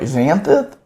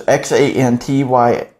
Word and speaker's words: Xanthyx: Not sure how to pronounce this, but it's like Xanthid Harvester. So it's Xanthyx.